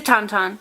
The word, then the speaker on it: Tauntaun: is i think it's tonton is it a tauntaun it's a taunton yeah it's from the empire strikes back he